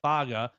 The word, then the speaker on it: Faga: James Smith, Edric Hill, Jeremiah Beeman, Isaiah Faga, not Faga, Faga is what I've been coached on.